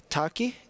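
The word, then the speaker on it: takhi: yeah and it's called the return of the taki is it correct pronunciation yeah the last feral horse yes so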